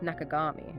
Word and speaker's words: 中上: He went from Ikinoshita, his mother's first married name, to Nakawe, his stepfather's name, and then finally to Iya, but pronounced Nakagami.